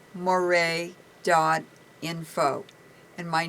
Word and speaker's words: Moret: online we have it on our website Moray doino and my name is spelled l e u r e n doino